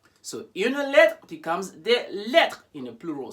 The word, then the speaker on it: lettres: So une lettre becomes des lettres in a plural. So as you may have noticed, the S, the final S there is not pronounced at all.